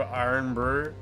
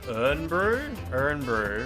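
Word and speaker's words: Irn-Bru: Wait, it's meant to be pronounced like ern brew. Really? Okay. Like from an urn.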